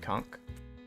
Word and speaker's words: conch: except for the Beachside conch because despite what SpongeBob would have you believe that CH is pronounced like a k all right uh definitely